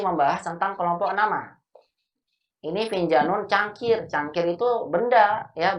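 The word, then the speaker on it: فنجان: Kalau kata finjan yang artinya cangkir, ini dibacanya finjanu atau finjanun? Apa bacanya? Finjanu bertanwin atau enggak? Atau finjanun bertanwin? Bacanya benar yang mana? Hah? Bertanwin, finjanun. Finjanu atau finjanun? Finjanun. Kan ada alif dan nun. Kok bertanwin? Kan ada alif dan nunnya. Apa jawabannya? Jawabannya bertanwin, finjanun, benar. Karena ini kan bukan nama.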